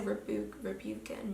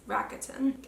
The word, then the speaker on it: Rakuten: The only site that I really use for this is I always say this wrong. I always say Rebukin, but it's Rakuten.